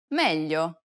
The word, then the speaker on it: meglio: It's a peculiar sound because it sounds somewhat like an English L, but not exactly.